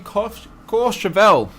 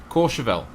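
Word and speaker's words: Courchevel: airways we are in course chevelle jason's got me married and i keep gonna pronounce it yeah incorrectly core chevelle thank you for the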